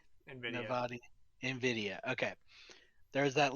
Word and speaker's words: Nvidia: But if it is something, then there was the Nvidia. That's how it's said, right? Nvidia.